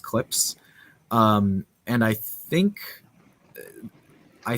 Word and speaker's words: CLPS: series of missions called clips it's clps there's no vowel in there but it's pronounced clips um and i think